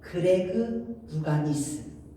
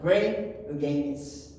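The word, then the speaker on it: Greg Louganis: 한국식으로 이름 발음은 그레그 루가니스, 영어 발음은 그레이그 루가니스.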